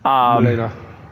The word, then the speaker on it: Melina: how like you take any boss except for Milena. I think I'm pronouncing her name right. Melina.